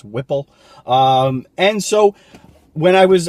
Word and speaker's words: Whipple: I always mispronounce the supercharger. It's Whipple.